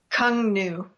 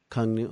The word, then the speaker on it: Cuong Nhu: If you say it with a Vietnamese accent, it sounds a little better, cooler, but Cuong Nhu is how us Americans say it.